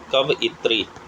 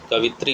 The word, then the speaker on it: कवयित्री: कवयित्री। ठीक है, कवयित्री। स्पेलिंग भी ध्यान दीजिएगा, कवयित्री नहीं, कवित्री गलत है, ये भी कवित्री भी गलत है, कवयित्री तो ये गलत है ही, तो कवयित्री होगा।